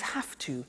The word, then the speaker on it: have to: Notice I don't say V, I say F. Have. It becomes have to. Have to becomes in pronunciation have to.